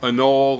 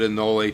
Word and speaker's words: anole: skinks jackson chameleons uh anole or pronounce it in nole take your pick it's the american chameleon